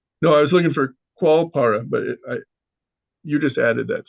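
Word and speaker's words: Koalpara: Is it Kualpara? Koal. Like koala bear? Yeah, koala bear, right. Koalpada.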